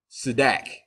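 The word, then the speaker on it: צדק: I can barely pronounce that, but Sedak.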